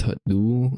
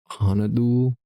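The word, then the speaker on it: 핫둘: Pronounced Hatdul instead of Hanadul is typically used in settings where physical movements are required, often to aid synchronized actions.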